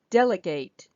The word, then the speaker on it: delegate: Okay, so the next one, it's delegate. Delegate. Again, we have the first syllable stressed.